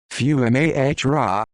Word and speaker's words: Fiumara: tino t fiumara pronounced few m-a-h-ra august 11th 1941 september